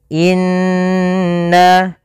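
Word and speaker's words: إنّ: gunah cara membacanya yaitu kita menahan suara kalau di sini Nun berarti kita tahan nnya sepanjang dua harakat sampai t harakat ya tapi dua lebih dikit saja Inna Inna kemudian pelafalna ainaka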